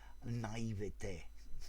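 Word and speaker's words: naïveté: adjective naively the adverb naivety the noun or naivede well the french pronunciation i think you're better off with naivety as the noun talking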